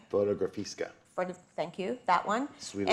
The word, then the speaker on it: Fotografiska: Stephen Starr, you have Veronica coming in the museum that I'm going to have a hard time pronouncing. Fotografiska.